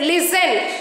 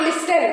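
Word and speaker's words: listen: इज नॉट फान okay next लिसन नॉट लिस्टन right next often it इज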